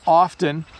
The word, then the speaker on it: often: one the next word often I often say it and you can hear the T often but when I speak really quickly I often leave the T out so notice that what